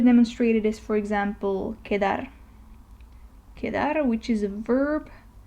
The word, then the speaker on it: quedar: in Spanish, Q, and it is pronounced like the pronunciation of C and U together in English. So quota, okay, Q. And a Spanish word to demonstrate it is, for example, quedar.